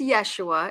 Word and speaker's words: Jeshua: It is Yeshua. It sounds like a Y spelled with a J, but they respond to anything and everything.